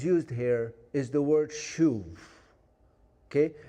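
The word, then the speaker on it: שוב: here is the word shuv. Okay? If you had to spell it out, it would be S-H-U-B. Because sometimes in Hebrew, the B and the V is the same letter or the same sound.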